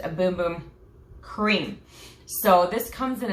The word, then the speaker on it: Bum Bum: I honestly thought it was pronounced Bum Bum because it's B-U-M, but apparently it is pronounced a Boom Boom Cream.